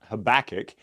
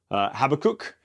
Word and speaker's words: Habakkuk: So I've always been taught Habakkuk, but I was telling Colin that in college I heard somebody call this book Habakkuk, and I was like, that kind of sounds fun.